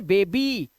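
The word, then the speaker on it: baby: बाद, तो यहां देखिए इसे पढ़ेंगे बेबी, तो लास्ट में आपने देखा ई का उच्चारण आ रहा है, बेबी, ई, वाई का जो उच्चारण है वो ई हो जाता है इस कंडीशन के अंदर।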